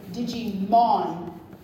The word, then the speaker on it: Digimon: One, apparently I did not say Digimon the way one of my directors liked it.